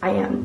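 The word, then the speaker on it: Οία: I believe it's called Ia. It's spelled Oa.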